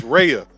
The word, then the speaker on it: Raya: So for all you people who are pronouncing her name wrong, like I did, because I'm country, it's Raya, not Raya, but Raya.